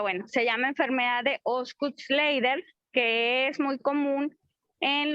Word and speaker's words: Osgood-Schlatter: Entonces, ahorita vamos a ver cómo se escribe, pero se pronuncia Osgood-Schlatter.